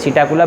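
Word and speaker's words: Psittacula: Bracket parrot लिख लीजिए, PSI TTACULA, सीटाकुला bracket parrot.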